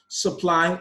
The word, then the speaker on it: supply: Supply, madam, demand, request. For supply, the stress is on the second syllable.